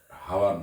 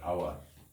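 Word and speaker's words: hour: আওয়ার আমরা ঘন্টা ইংরেজি হলো আওয়ার, এইচের উচ্চারণ হবে না, হাওয়ার নয় আওয়ার।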